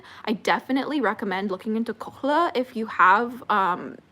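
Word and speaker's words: kohl: you can use Luna have you heard of KLA it's spelled k o l it's from the Middle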